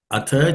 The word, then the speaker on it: अथ: The first word atha, the second letter in that word tha is aspirated. So you have to say atha. Okay, it has to be aspirated.